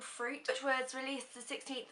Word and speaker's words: FROOT: Marina and the Diamonds new album is called fruit um it's spelled f-r-o-o-t um this is her follow up